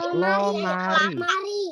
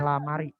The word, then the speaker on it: lomari: Ada lomari. Lemari. Sudah tahu artinya ya? Karena sudah ada gambarnya di samping. Berarti sudah tahu. Lomari ya. Bacanya bukan lamari. Lomari.